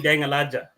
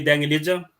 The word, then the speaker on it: Deng Alaja: me, Deng Alaja, and I'm used to saying Deng Alaja, because that is the pronunciation from where I worked at the moment, or where I live. But it's okay to call me Deng Elijah, or call me, or maybe by all